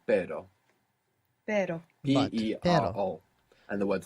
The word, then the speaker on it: pero: So the word for but in Spanish is pero.